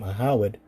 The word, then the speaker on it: Ehud: And Ehud, or Ahawad, that's his name, Ahawad, when you pronounce it in the Paleo, came unto him, and